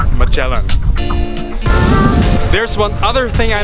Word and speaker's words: Magellan: Philippine soil for the first time actually it's pronounced Magellan there's one other thing I noticed the drivers